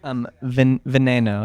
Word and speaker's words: veneno: How do you say it in Spanish? Veneno. It's like venom.